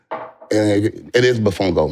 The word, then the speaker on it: Mofongo: It's actually it is Mofongo.